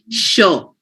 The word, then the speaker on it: sure: It's this also has an S written over here, but it is pronounced sure, sure, sure, chic, fisherman, harsh.